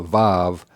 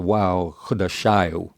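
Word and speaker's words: וו: For instance, for the word months, we can get if you pronounce that wow as a vav or as a wow, this would be his months.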